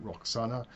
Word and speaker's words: Roxana: Her name was Rashanak in the native language. The Greeks pronounce it Roxana.